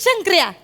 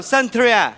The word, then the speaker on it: शंकऱ्या: and he is शंकर्या. My best friend शंकर्या. Why are you blushing? नाही no flashing. असंच friend आहे, गहरी दोस्ती आहे. Oh, hello. Hello, Santria.